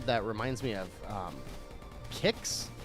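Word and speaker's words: Qix: reminds me of um kicks is that how you say it you know the puzzle game from the Game Boy that's q i x I think it's kicks not Quicks I think it's kicks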